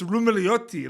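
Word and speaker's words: Roumeliotis: I found out recently that it really is like the S is silent. Like it's Rumeliotti.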